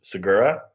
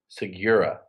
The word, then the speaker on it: Segura: It's supposed to be pronounced phonetically, which is Segura, but my father and his father pronounced it Segura.